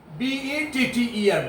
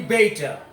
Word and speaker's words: better: te R beta definitely we say better we all the students are very much accustomed to using and speaking this world better but this is absolutely wrong pronunciation so I better you see are at the end of the world are is their last autumn nature so here are should not be sounded it should be beta it should be beta